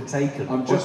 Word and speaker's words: Taycan: It's not called a Mission E anymore, it's called a Taken. Taken, like that film with Liam Neeson. But it's spelled differently.